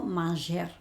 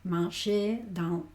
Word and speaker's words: manger: Acuérdate que los huevos en R, la R no se pronuncia. Yo no digo manger, no digo dancer y cosas así, sino manger, dancer y de rou rir es este este sonido.